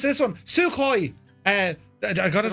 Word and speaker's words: Sukhoi: Gibbo, I'll pronounce this one. Sukhoi.